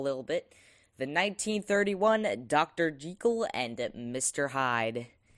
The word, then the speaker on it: Jekyll: But I will tell you, I am probably going to say Jekyll. I know it's Jekyll, like treacle. But I'm probably going to say Jekyll, like, you know, because...